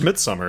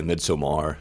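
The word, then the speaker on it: Midsommar: the title it's just Midsummer isn't it thought it was pronounced you could be fancy and say midmar Omar mid yeah it's just Midsummer yes I think you mispronounced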